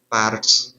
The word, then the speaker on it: parts: not read properly okay Parts it should be R should be mentioned uh r should be able to hear okay but in our pronunciation R is missing okay the pronunciation of